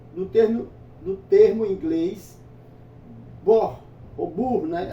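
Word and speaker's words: burn: termo do termo inglês bor ou Bur né a gente vê o u aqui mas é a pronúncia é bor bor né Eh que significa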